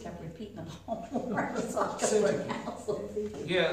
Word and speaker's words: Syntyche: Syntyche. Yeah, they pronounce it syntyche, yeah, with the emphasis on the sin.